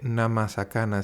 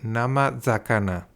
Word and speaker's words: namazakana: se dice sakana, pero cuando se juntan las dos palabras, la sa de sakana se convierte en za y no se dice nama sakana, se dice nama zakana.